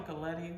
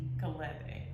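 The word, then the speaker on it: Gelede: So this, when I first was introduced to this, it's called a Galette mask. Can I spell it? Yes, please. G-E-L-E-D-E. Galette.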